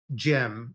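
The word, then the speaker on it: Jym: well I heard of the protein gem right which is spelled j ym um but then I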